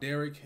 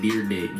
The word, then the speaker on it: Dyrdek: Got the S boys, Rob Derrick, and this was suggested by Jordan.